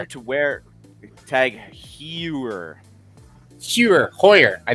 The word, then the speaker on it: Heuer: wear tag heuer cure hoyer i want to say it's hoyer in proper german pronunciation i believe americans say hauer but it's foyer any